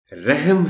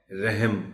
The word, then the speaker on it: رحم: ہے، وزن نہیں ہے۔ رحم ہے، رحم نہیں ہے۔ یہاں بھی یہ وہی